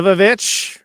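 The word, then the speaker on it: The VVitch: Uh, so the Vavich, as it canonically is a is pronounced, uh, thoughtprovoking, visually compelling, full of pervasive dread.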